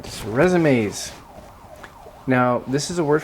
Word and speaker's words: résumé: If you want to impress people with French pronunciation, it's résumé, if you want to show off.